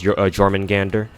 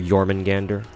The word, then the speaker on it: Jormungandr: So 3-piece Virgo and 3-piece Jormungandr or Jormungandr. Pretty sure the J is silent.